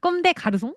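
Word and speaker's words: Comme des Garçons: 그러면이 유명한 브랜드 한번 발음을 해 보자. 여러분 다들 아시죠? 꼼대르송. 꼼대 가르송 어이라고 하는 그런 브랜드인데요.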